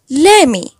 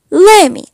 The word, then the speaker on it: let me: Let me can be pronounced like Lemme. Lemme.